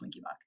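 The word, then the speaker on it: Wenckebach: boach his last name is winky boach that's pronounced winky boach it's also called mobitz one second degree type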